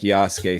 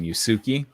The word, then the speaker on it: Yasuke: your thoughts well first i think yasuke sounds so much better than yusuki uh um so i'm i'm glad that they pronounce it that way and now that i know that the u is not overly pronounced in japanese so that that helped